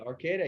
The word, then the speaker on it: Arcata: Is that how you pronounce that? Arcata. Yeah, I do. I do Arcata.